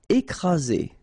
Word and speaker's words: écrasé: Écrasé. Okay, double vowel, only one S, Z, and then you've got the first accent aigu, écrasé, écrasé.